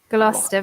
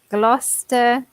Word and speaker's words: Gloucester: Gloucester. Very similar to Leicester because you just pronounce Gloucester.